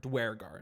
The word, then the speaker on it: Duergar: Those Yeah, or Duergar. Dwergar is how Duergar. is how Baldur's Gate 3 says it, but I never say it that way.